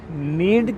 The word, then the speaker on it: Knead: अच्छा, इसका नाम जो है ना वो है नीड कैफ़े। नीड cafe. अच्छा, के लगा हुआ है, के साइलेंट है, तो ये गूंदना जो है ना इसको कहते हैं नीड।